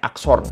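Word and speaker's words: อักษร: Tulisannya akson, ada R-nya, akson.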